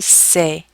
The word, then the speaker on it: sait: With il, elle, on, we say il sait. It sounds the same, but it's spelled with a T at the end.